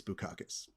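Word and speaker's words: Bukauskas: bacchus for bu caucus now i understand how to pronounce his name and i understand why i wasn't trying to pronounce his name a certain way because it sounds like but instead it's bukakis and i'm just trying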